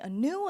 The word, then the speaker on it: Anu: I go by Anu for short.